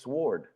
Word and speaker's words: sword: you say sword it's sword no no you don't pronounce the W four isn't it Liquid